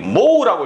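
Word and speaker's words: mho: 컨덕턴스 G 모우라고 있습니다. 얘는 ohm이죠. ohm. 얘를 거꾸로 디비었네. 그러면 이 글자도 어떻게 돼? 글자도 거꾸로 합니다. 그래서 얘는 모우라고 읽고 얘는 ohm이라고 있습니다.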